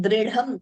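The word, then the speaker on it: दृढम्: Padam dridham, note the pronunciation, dridham. Only the second dha is mahaprana. We shouldn't be saying the first letter also as mahaprana.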